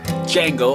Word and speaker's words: Django: Today's movie review, Django Unchained. It's D is silent.